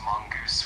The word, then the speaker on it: mongoose: And for mongoose, it's pronounced mongoose with the emphasis on the first syllable.